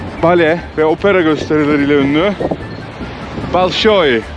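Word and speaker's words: Большой: Ve Opera gösterileriyle ünlü Balsoy bizde bolsoy diyorlar ama sanıyorum ruscada Balsoy diye okunuyor büyük tiyatro demek Evet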